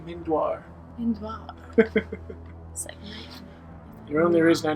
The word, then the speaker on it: Mindoir: I don't like that Pro tip uh it's pronounced mindoir mind the only reason I know is because